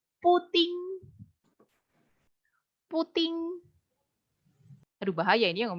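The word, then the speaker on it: 布丁: nambah puding berarti C puting puting Aduh bahaya ini yang menyeutnya ini puting tapi memang bacanya gitu puting puting puting puting jadi puding tapi dibacanya puting gitu ya Cia puting gitu Cia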